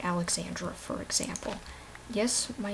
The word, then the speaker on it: Alexandra: and I've been called Alexandria I've been called Alexander um so basically people combine Alexander with Alexandra which is extra and you know things